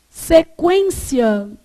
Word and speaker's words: sequência: Então, quando eu falo assim, por exemplo, sequência, esse U é pronunciado ou não? É. Sequência.